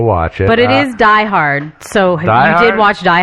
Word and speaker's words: Die Hard: For those of you who haven't seen it, German movie 1988 in English, The Hard. That's not how it's pronounced, by the way. Die Hard.